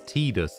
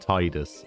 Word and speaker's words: Titus: the official pronunciations because apparently it's tedis and not Titus and I refuse uh this